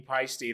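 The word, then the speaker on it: Paiste: I remember going to their booth in the London Drum Show in like 2012, and they were very adamant about it being pasty.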